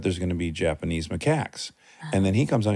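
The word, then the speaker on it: macaque: No, cuz I was in classes and my primatology professor said Macak. But what if that was just his like They said Mak Mak.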